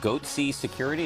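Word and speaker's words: Goatse Security: getting the goatsy picture they're called goatsy security is that my pronouncing that correctly yeah that's right we're analyzing coverage from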